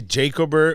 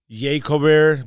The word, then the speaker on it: Jacober: You can say Jacober, or somebody says Jacober, but whatever floats your boat.